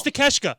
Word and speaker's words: Takeshita: It's Takeshita. Okay, that's what it was. It's Takeshita. I remember it, but it's spelled. I can't even I can't mess with you guys. Take a shita is what it spells out.